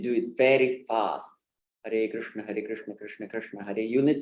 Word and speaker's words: Krishna: It's not, but for Hare Krishna, when you want to say Krishna phonetically correct, yeah, you need some more movement is involved, definitely.